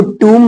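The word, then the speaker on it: tomb: टी ओ एम बी इसको टूम बोलते हैं टम कई सारे लोग टम बोल बोलते हैं नहीं इसका करेक्ट जो होगा टूम अच्छा एक चीज और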